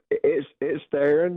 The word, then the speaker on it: Theron: How do you say your name? Yeah, it's Theron, yes, sir. Theron.